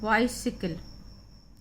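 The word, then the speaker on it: bicycle: सा करते हैं, और सी के बाद जब कोई भी कॉन्सोनेंट आ जाता है तो हम उसका उच्चारण का करते हैं।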